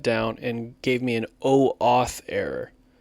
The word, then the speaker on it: OAuth: And then on the third day, the whole thing had shut down and gave me an OAuth error. That's spelled O and then AUTH, like authorization. OAUTH, authorization. So OAuth errors started happening with Instantly and Microsoft 365 Outlook, like within 2 days.